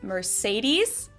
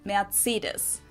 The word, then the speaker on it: Mercedes: So most Americans call this Mercedes. In German, we pronounce it Mercedes. So Mercedes versus Mercedes. Mercedes. So it's really pretty different.